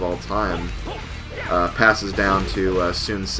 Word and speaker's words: Sun Ce: Passes down to Sun Ce, or I think it's supposed to be pronounced Sunsa.